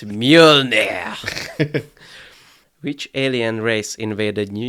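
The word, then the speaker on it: Mjölnir: name of Thor's hammer miona yeah correct but you didn't pronounce it correctly it's mule which alien race invaded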